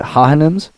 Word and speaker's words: Hohenheim: That's the best wrong pronunciation I've heard thus far. Nah, Hohenheim.